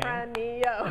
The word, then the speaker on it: Tempranillo: You know I'm limited to only a couple syllables. So Tempranillo. From Spain. Tempranillo.